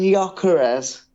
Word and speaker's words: Gyökeres: Do you mean Gyökeres? Oh, sorry, yes, that's What the did you call second him? time I've What did you mucked call up his him? pronunciation. Gyökeres. Victor Jokeres, is it?